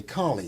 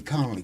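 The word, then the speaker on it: Colley: No, everybody in my life has never been able to say Collie. It was Connelly, Coley.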